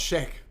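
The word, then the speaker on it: Sheikh: It's pronounced shake.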